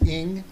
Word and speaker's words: Ng: name is r-a-g-e my last name is ing which is spelled n g if you search me